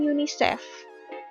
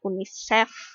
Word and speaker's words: UNICEF: nah itu tidak baku Kemudian untuk singkatan bahasa asing berarti pelafalannya sebaiknya pakai bahasa asing Juga misalnya UNESCO nya bukan UNESCO bukannya tapi UNESCO kemudian yunisef yunisef bukan UNICEF yang bukan atau unik cat juga bukan kemudian you know jangan